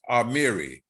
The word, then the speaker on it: Amiri: remember by it amiri and it's pronounced amiri amir amir amiri amiri baraka um i don't know